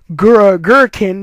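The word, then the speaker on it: Gurkinn: Right before it attacks Ash, however, Gurrikn, that's the name of the guy. I'm sorry I didn't pronounce his name in the last review, but Karina's grandfather's name is Gurrikn.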